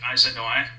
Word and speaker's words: Aizanoi: Temple of Zeus at Izanoi, that's spelled Aizanoi, near Katuya, Turkey.